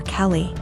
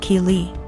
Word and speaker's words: Keely: A couple times more and I realized she was calling my daughter Kelly. My daughter's name is Keely, pronounced Keely.